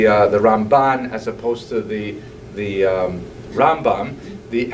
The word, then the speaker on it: Rambam: all your friends there, Rambam is pronounced with the emphasis on the first syllable, Rambam, and Ramban is pronounced with the emphasis on the second syllable, Rambam and Ramban.